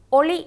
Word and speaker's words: ஒளி: ஒளி என்பதை நான் உச்சரிக்கின்றேன். அடுத்து ஆலயமணியின் ஒலி. ஒளி என்பது வெளிச்சம், ஒலி என்பது சத்தம். இரண்டிற்கும் உள்ள வித்தியாசத்தை அவதானியுங்கள். அதேபோல் அடுத்தது மழை பெய்தமையால் வெள்ளம் பெருகியது.